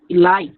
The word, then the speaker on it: elite: Elite.